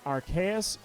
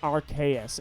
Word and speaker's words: Arceus: it Arceus and uh I always assumed it was archaeus then when uh silvalley came out and it had an ability called the rks system that's how I knew immediately I was like all right that's it guys the the this is put to rest the debate is over it is Arceus and even in the